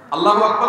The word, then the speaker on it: আল্লাহু আকবার: আল্লাহু আকবার উচ্চারণ করার সময় আকবারের রাকে টেনে পড়া ঠিক হবে কিনা?